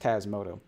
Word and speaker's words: Tasmota: And Tasmoto is always pronounced Tasmoto.